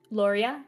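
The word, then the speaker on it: Loria: And then there's Lauria, which is the smaller town. It's near the quarry, but quickly accessible. How do you spell that? The smaller Lauria, L O R I A.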